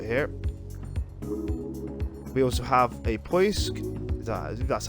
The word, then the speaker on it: Poisk: We also have a Poisk, that's how you pronounce it, which is a docking module.